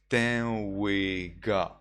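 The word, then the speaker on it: saṃvega: Last week we were talking about Sangvega. In Burmese pronunciation you call it Tenwega.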